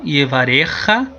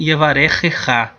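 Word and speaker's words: יְבָרֶכְךָ: A gente pode pronunciar como se fosse um som só, yevarecha, que aí no caso seria do hebraico moderno, mas a gente pode pronunciar também yevarechecha.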